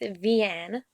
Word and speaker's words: Vianne: It's Chocolat, and I'm gonna be talking about the main character, correctly pronounced Vianne, and how I pronounce it, Vianne.